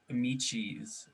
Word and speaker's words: Amici's: best speaking of local things how do you spell that is it like lychee but michi uh no no it's a-m-i-c-i-s amici's oh that makes more sense